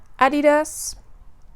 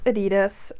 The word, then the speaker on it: Adidas: Adidas. German brand, that's how you pronounce it. Putting it out there so everybody will learn how to pronounce Adidas. For the Americans, Adidas. It's the go-to performance tee.